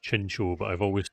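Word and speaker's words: Chinchou: Apparently, it's pronounced Chincho, but I've always said Chinchu, and I cannot I cannot make my brain change that.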